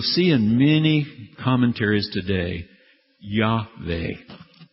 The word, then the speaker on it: Yahweh: And you'll see in many commentaries today, Yahweh. W's are also pronounced like V's, as you recall, in Hebrew and German, like a V. So sometimes people go and say Yahweh, but technically scholars call it Yahweh.